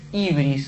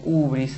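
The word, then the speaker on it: hybris: La palabra griega es ibris o ubris, depende cómo se pronuncie, H-Y-B-R-I-S, transliteral al español, y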